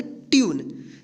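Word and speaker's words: tune: है ये आप देखिए टी यू एन ए इसको क्या पढ़ेंगे तूने इसको तूने नहीं पढ़ेंगे क्या पढ़ेंगे तूने देखिए यहां पे यू का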